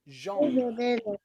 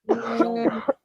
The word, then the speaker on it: genre: So, words that come from French like genre, genre, okay? Genre. It's a strange one, but it is a word that the French also use, and they will also pronounce it nearly the same.